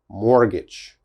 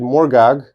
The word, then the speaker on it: mortgage: carefully mortgage mortgage mortgage which letters uh i don't pronounce well this e if i said morgog the e is necessary for the a the long a mortgage so this is important mortgage but this t is not important okay mortgage mortgage never never say mortgage that is definitely wrong it is always mortgage mortgage all right and the